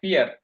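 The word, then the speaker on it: vier: একটু আগে তো ওনাকে ধরলাম, যেটা ভিয়ান না, এটা ফিয়ার। ফাও উচ্চারণ হলো ফাও। এফ এর মতো উচ্চারণ হবে, ছোট বি এর উচ্চারণ হবে অলওয়েজ এফ এর মতো।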